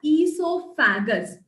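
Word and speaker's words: oesophagus: is also called as esofagus okay now there's a small difference between how you pronounce it and how you write the spelling make sure that you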